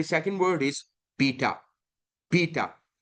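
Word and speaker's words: beta: बीटा and pronunciation इसकी की ऐसे है बी एज in book B okay so बीटा जैसे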